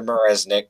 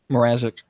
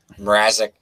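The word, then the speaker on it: Mrázek: good I know they brought in Marissa Peter Marisnick or have you say his name arresting Mrazek Mrazek yeah they brought him in to kind of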